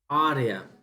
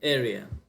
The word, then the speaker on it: area: the word uh i i always say are arya the word area it means that i have a problem with pronunciation in myself my colleagues say boss it's not arya it's area so it